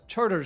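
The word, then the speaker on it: Chartres: I assure you that the locals in New Orleans pronounce this as Charter Street.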